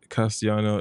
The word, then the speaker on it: Castellano: like uh Spanish okay castiano is the proper way to say I speak Spanish oh cool learn something